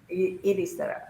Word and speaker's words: Ericeira: So it's not pronounced like it's spelled. So it's ERCRE. I have to type it out. ECERIA. ECER. And Syria? Ericeira.